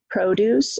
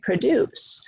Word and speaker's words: produce: You know, you have words like produce and produce. So we have noun-verb combinations, depending on where we put the stress. Would you pick up some produce at the store? First syllable is stressed, produce, it's a noun. She produces records. Produces is second syllable, so that's a verb.